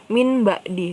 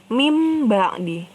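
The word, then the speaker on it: من بعد: dimasukkan kedalam Amin ya Jadi bukan Min ba'di tapi mimba'di bukan Min ba'di tapi mimba'di langsung masuk ke huruf mim nah biasanya untuk hukum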